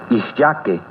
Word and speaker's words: ixyaque: Ixyaque. ¿Escuchaste la terminación que? Ixyaque. Recuerda que en el náhuatl las palabras se acentúan en la penúltima sílaba.